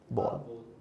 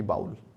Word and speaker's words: bowl: लेकिन BOWL इसकी exact pronunciation होती है बॉल, ना कि बाउल।